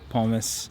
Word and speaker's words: Pommes: And yes, I know they're pronounced pommes in German.